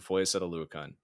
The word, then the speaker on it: Foyesade Oluokun: Like the whole exchange of going from Foyesade Oluokun, or going from Miles Jack to Foyesade Oluokun. Good pronunciation, my man.